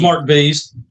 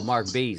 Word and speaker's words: Marc Bz: Yeah, it's just Mark Bees. Mark Oh, Mark B. Okay. So, that's how pronounced like like bumblebees. Oh, Mark Bees. Like bumblebees.